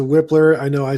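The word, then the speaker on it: Wypler: come to a result here is the pronunciation the correct pronunciation of luke whitler or weipler's last name personally personally i'm going back to whipler i know i said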